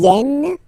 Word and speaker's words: viennent: Ils viennent, elles viennent. Ils viennent, elles viennent. Alright? E and T, you don't pronounce them.